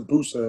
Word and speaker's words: Bursa: was in a town called bursa they pronounced the booster and played for a